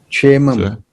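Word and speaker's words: क्षेमम्: Chemam. Atyantik chemam. Che. That is K-S-E is pronounced che.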